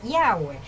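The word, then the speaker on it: Yahveh: que tiene controle estás y su pronunciación es yagüe esto todo aplicar una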